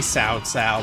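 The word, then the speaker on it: Cao Cao: right and yeah I know it's supposed to be sa sa but come on I got to call him cow cow right that's how they spell it you're a better G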